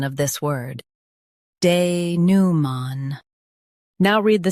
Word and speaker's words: denouement: Both US and UK have the same pronunciation of this word, denouement. Now read the syllables shown on the screen naturally. De, new, man, denouement. Stress new and keep man soft.